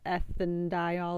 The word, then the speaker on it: ethanediol: In this case, you are going to leave the E in the base name just so that it pronunciation is correct. So instead of ethanediol, it'd be ethane diol, propane diol, and so on.